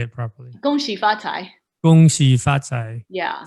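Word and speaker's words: 恭喜发财: Gong hei fat choi. And how do you say it in Mandarin? I want to say it properly. Gong xi fa cai.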